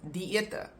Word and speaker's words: diete: So then it is diete. And it just indicates that, ete, that is pronounced together, and the first part, di, is pronounced together. Diete.